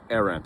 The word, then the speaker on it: Arendt: Arendt, apparently I've been mispronouncing it since graduate school.